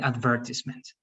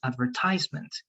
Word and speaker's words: advertisement: difference is big and many people say but kamali that's not the way you pronounce it correctly it's advertisement no it's advertisement we both are correct advertisement and advertisement the thing is that one is american english and the other one is british english or uk english so